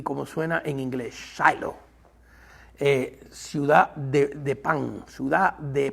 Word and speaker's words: Shiloh: En inglés me gusta mucho cómo suena ese nombre, se llama Shiloh. Y en inglés se pronuncia más cercano del hebreo, porque en el hebreo se escribe S-H-I-L-O. Shiloh, pronuncian los americanos.